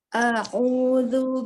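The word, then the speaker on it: أعوذ: A'udzu billahi minasyaitonir rajim. Nah, barakallahu fiik. Hamzah tipiskan lagi di a'udzu, lalu dikata billahi, tidak di ayun.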